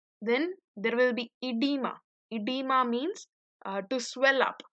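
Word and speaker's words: oedema: Now, edema in some older textbooks, you may even find it with a O, edema, but that O is silent.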